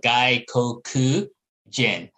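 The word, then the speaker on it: gaikokujin: say this guy okay so it's gaijin and then you put two extra syllables in the middle guy koku jin so i just say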